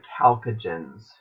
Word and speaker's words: chalcogens: Group 6A, this one's not very common, but this group right here with oxygen, sulfur, selenium, it's called the chalcogens. D, spelled with a CH. Chalcogens.